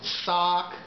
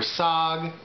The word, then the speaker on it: saag: so this is it this is sock or SOG I'll put both pronunciations uh on YouTube I